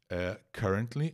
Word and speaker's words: currently: Então é isso gente currently atenção a pronúncia não é o verbo curar ou então substantivo a cura é cure a banda inglesa The Cure mas aqui ó current